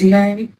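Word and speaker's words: Mae: My middle name is May. It's spelled M-A-E.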